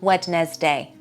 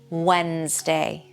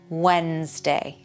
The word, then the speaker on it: Wednesday: It's not Wedes day. Don't pronounce that D. Wednesday. Wednesday.